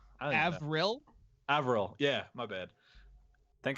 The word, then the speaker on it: Avril: levine uh how do you say her name avalor avril avril yeah my bad thank god mysteries here